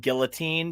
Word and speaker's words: guillotine: Rue would tell you to pronounce it guillotine. She doesn't really like the heavy French accent.